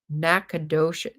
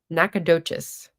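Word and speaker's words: Nacogdoches: The G is silent. Nackadoc. Nakadocious.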